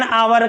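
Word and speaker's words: hour: यहां एच कोसोनेंट है। लेकिन इसका उच्चारण कैसा है? वोवेल की तरह इसलिए एन आवर कहेंगे एक घंटा का एन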